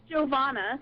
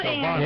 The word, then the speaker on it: Giovanna: Well, it's pronounced Giovanna, thank you. Giovanna.